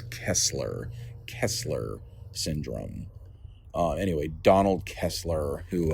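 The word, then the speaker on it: Kessler syndrome: like five times now, and I also realize I've been saying it wrong. I've been saying Kepler. It's Kesler Kesler syndrome.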